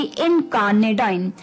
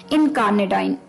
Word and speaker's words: incarnadine: शाम का वो था थोड़ा सा अटपटा, जिसकी प्रोनाउंसिएशन थी थोड़ी सी मुश्किल, और वो थी इनकार्नेडाइन। इनकार्नेडाइन, INCARNADINE, इनकार्नेडाइन।